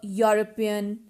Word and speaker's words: European: sound is of consonant now see these words a european uh university a one rupee note these all words start with a consonant sound these all words are